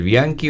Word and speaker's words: Bianchi: acá son de reivindicar El bianki o el Bianchi le sienta bien Igual el bianki porque no se dice rondeado verdad y no es qué hago es para que sea Bianchi tendrían que ser dos c pero ya está altura